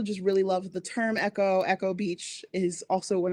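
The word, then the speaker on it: Eko: So this is Echo, but it is spelled with a K, E-K-O, because of the fact that we are also Nigerian on my daddy's side.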